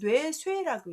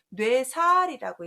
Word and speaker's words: 뇌쇄: 특히 남자들이 여자의 아름다움 때문에 그 뇌쇠적인 여자 뭐 이렇게 표현할 때 쓰는 그래서 그때 괴로워할 뇌자와 죽일 살자를 쓰면 뇌쇠라고 읽어요. 뇌살이라고 읽지 않고요. 그래서 가말쇠자에 얘 발음이 그렇게도